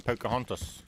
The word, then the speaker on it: Pocahontas: HEY ONE TIME, POCAHONTAS. Why do you guys say weird over there? Cuz I can tell you now, the correct way to say it is Pocahontas.